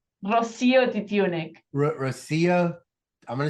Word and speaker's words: Rocío Titiunik: it to me but I didn't say it right how do I how do I pronounce it Rosia dunic Rosia I'm gonna say